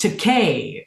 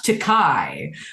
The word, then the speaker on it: Takei: It's pronounced Takei, not Takai, but I don't mind Takai because that means expensive.